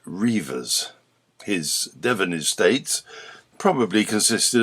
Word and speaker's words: Redvers: He probably pronounced it Reivers.